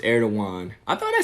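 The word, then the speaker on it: Erdoğan: By the way, Erdogan is pronounced Erdogan.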